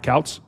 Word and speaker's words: Kouts: I'm pronouncing it right. Kouts? Correct.